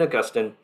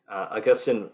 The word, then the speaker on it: Augustine: and so in augustine in whichever way you like to pronounce he pronounced his name both are correct uh in augustine augustine basically has two major